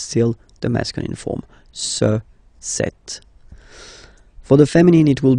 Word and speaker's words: cet: So you can notice that phonetically, these two are pronounced the same way.